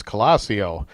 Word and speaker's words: Colosio: interview didn't even pronounce his name right it's colosseo Wow Muro Muro pronounced that wrong on purpose tell me about